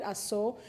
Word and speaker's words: Ashum: It is spelled Ashum, but my people call it ASO.